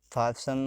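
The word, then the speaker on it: fasten: अब इसमें पी, T silent है, टी साइलेंट है जैसे कि ऐसे जार मतलब रूसी शासक, फासन मतलब, टी साइलेंट है इसमें फासन मतलब बांधना, जैसे आयन मतलब लोहा या प्रेस, आयरन बोलते हैं, आयन होता है वो।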